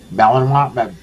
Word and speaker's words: Malinois: 12 gauge and a Malinois dog for home defense, and I cannot pronounce that dog breed. Malinois, whatever.